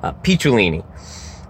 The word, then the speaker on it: Picciolini: So, you heard Christian Picciolini, Picciolini. I keep saying his name wrong, I'm an idiot. Picciolini.